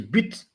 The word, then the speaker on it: but: So the second word of the day is but. So in French, this is pronounced but, but.